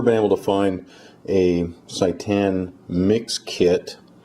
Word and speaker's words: seitan: experiment will be making satan or i don't know maybe you pronounce it satan but i'd rather not have satan in my kitchen so i'm going to call it saitan s-e-i-t-a-n now this is